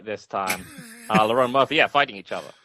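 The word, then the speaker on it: Lerone: I was going to pronounce it right this time. Lauron Murphy.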